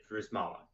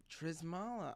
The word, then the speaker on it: Drzala: am I right it's if you just act like the Y the Z or the or reverse it's a lot easier I pronounce it drzala drzala ah yeah that that it's the Z and the Y that give people so yeah my name is